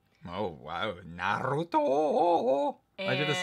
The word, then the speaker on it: Naruto: We're watching Naruto. Oh wow, Naruto! Why'd you have to say it like that? Naruto. That's how you say it, you idiot. No, you say Naruto.